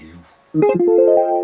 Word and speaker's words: loup: les leux, entre les loups. Bon, visiblement, nos aïeux hésitent entre la prononciation le et la prononciation loup. Bon, finalement, c'est loup qui l'emporte.